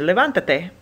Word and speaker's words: levántate: Once you've added another syllable, you're going to have to try and keep the emphasis where it was by putting an accent mark.